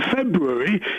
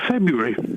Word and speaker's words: February: Beware the eyes of February. Listen, how many how many Rs are there in February? Not as many as you just said. I said two. No one pronounces the first R.